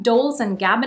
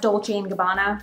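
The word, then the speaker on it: Dolce & Gabbana: than 600 options including Brands like Goosey Gucci dolls and Gabbana actually it's pronounced Dolce Gabbana and Berets Sachi and you know me the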